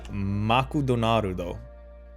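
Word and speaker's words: マクドナルド: McDonald's is Makudonarudo. That's how you say it.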